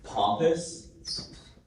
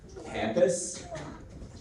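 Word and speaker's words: pampas: Pompus. Pompus. Can I have all the information, please? Of course. The pronunciations are pampus, campus, pompus.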